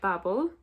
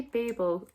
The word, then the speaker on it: Babel: Some people pronounce it Babel. I would say Babel. I'm just thinking of the Mumford and Sons song called Babel, and they pronounce it Babel.